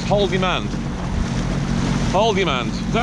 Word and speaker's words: Haldimand: Anyway, we're in Haldimand County now, so we're not in Niagara region. When I say Haldimand County, I want to say Haldimand, like in Afghanistan, but this is Haldimand.